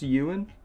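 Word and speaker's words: Iwan: n um you in is it just Yuan it is Yuan okay fair enough um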